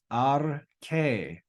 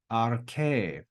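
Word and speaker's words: ἀρχή: So that word is pronounced arche, arche.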